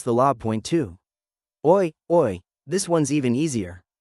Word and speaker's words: oi: Oi, oi. This one's even easier. It's a casual, hi. Just like the sound in boy, but shorter.